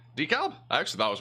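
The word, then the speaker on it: DeKalb: milkshake that's what that is I nailed the Decalb oh did I is this right Decalb actually thought I was wrong about that one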